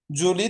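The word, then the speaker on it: je lis: Problem প্রথমে হচ্ছে জো লি। ওযে ফরাসিতে আমরা হচ্ছে বেশিরভাগ ক্ষেত্রে দেখবেন শেষের যে বর্ণটা থাকে ওটা উচ্চারণ হয় না এখানে লিজ হবে না যলি মানে হচ্ছে আই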